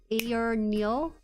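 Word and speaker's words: AYANEO: Pronounced like Ayor Neo.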